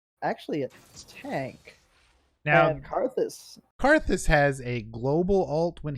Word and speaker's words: Karthus: I'm seeing hovers on Renekton and Vigar, and now Cassius. No, how do you pronounce it? Karthus. Yeah, Karthus, not Cassius.